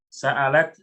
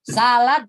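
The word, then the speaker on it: سالت: Darafat sa'alat bidumu'. Bukan, kan nggak ada kepala hamzah, kok pakai sa'alat bacanya? Oh, sa'alat, nah Ustaz. Sa'alat bidumu'. Iya, kalau sa'alat bertanya, kalau sa'alat mengalir, beda artinya nanti.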